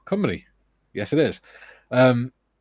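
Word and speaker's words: Cymru: says I believe Welsh for Wales is cumy pronounced cumy yes it is um C it's not Wales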